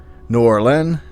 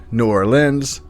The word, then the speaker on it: New Orleans: with this state since there is quite a debate over how a certain city is pronounced from what i have gathered it boils down to three new orleans new orleans or new orleans the second version seems the most agreed upon version so i'll be sticking